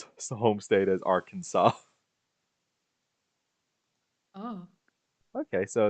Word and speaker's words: Arkansas: of a similar one since the letter S at the end of French words is usually silent we pronounce Bill Clinton's what's the home state as Arkansas okay so it's because